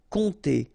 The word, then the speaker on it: compter: Compter sur, remember this P is not pronounced, and then O and M together will give you this nasal on. Compter.